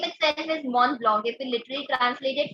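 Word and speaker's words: Mont Blanc: don't worry yeah but its name itself is mon blog if you literally translate it it means the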